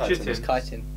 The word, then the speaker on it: chitin: It's chitin. That's how it's pronounced.